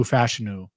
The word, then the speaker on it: Fashanu: Our listeners certainly and viewers know how I feel about Amarius Mims in the upside, but Olu Fashanu, and I'm glad I'm saying the name right now.